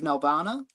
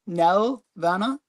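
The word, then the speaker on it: Nelvana: Um, but you know, it's uh the first appearance of Nalvana. And I'll I'll I'll say it for Stephen Nelana. Just so he he really he he always complains that I never pronounce the L, but I I do.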